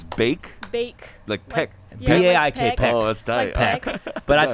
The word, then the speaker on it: Baik: have Steffi Baek over here your last names bake bake look pick but I think a lot